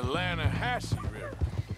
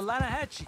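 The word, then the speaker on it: Lannahechee: some beautiful steelhead trout you mean the Lana hat no no the Lana Hetchy the runs right near here yeah mispronounced Lana Hass why is everything in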